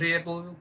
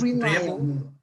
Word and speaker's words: reliable: Es que tú la cortas. Reliable. Reliable. Es una sola. Reliable. Si tú pones el acento bien, lo demás sale solo. Reliable.